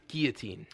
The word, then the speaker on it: guillotine: guillotine named chappie that's just bad it's it's pronounced guillotine I don't care I'm from America and you